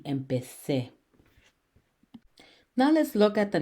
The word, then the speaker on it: empecé: If we were to spell with a Z, we would have to pronounce it with a vibrating Z, as in the English word zu, empecé. In Spanish, that does not sound correctly pronouncing it. The correct way to say it would be empecé.